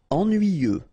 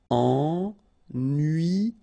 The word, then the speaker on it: ennuyeux: Ennuyeux. Okay, final X not pronounced. And then ennuyeux, ennuyeux.